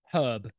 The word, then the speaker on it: herb: it that sound okay herb herb H is silent h is silent yeah